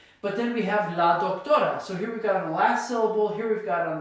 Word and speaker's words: doctora: But then we have la doctora. So here we've got on the last syllable, here we've got on the second to last syllable, another word that's synonymous to doctor, la médica.